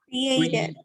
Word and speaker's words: created: in create, for example, when you say created, huh? The ed, this ed is pronounced like ed, okay?